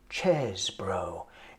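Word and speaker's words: Chesebro: They go, yeah, we finally figured out how to pronounce his name. Chesbro.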